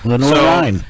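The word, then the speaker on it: Lenoir-Rhyne: Is it Lenor Ry? Lenor Ry.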